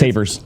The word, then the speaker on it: Tavares: Is it pronounced Tavares? Tavares. Tavares. It's Tavers.